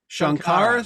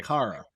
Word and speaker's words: Sankara: Shankara stone? Shankara. Yes. But it's not spelled with an H. No, it's not. It's Sankara. Sankara. Okay. I just say Shankara because that's how they say it.